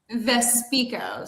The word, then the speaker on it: Vespico: How do you say your last name? It's not a costume. Vespico. So we like to say my best skill is talking, so we put speak in my last name.